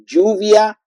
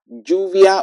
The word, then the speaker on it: lluvia: Now, then we have the la Y or the double L like lluvia, lluvia or July. You see, lluvia. So Y and double L they have the same pronunciation.